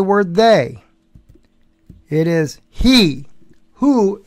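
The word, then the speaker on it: הוא: Who is how you pronounce it in Hebrew, the letter, the three letters, hey, vav, aleph.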